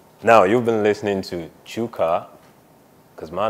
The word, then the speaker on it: Chuka: So now you've been listening to Chuka, because my name is Chuka. Just listen to the way I'm pronouncing it. Chuka.